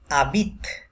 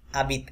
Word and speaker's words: habite: উচ্চারণ হয় mon mari habite mon mari habite এখানেও plural third person plural conjugation that's why ENT silent তাহলে habite HARBIT আমরা জানি যে ফ্রেঞ্চ ভাষায় হ এটা উচ্চারণ হয় না ওরা এইচটাকে মিউটেড থাকে